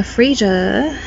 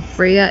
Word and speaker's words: Freya: here we go now frasier i think it's freya sorry i've been saying it wrong freya is the right pronunciation so so freya is